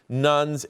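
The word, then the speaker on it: nones: At the same time, the percentage of agnostics, nuns, that's spelled N-O-N-E-S, atheists, and those who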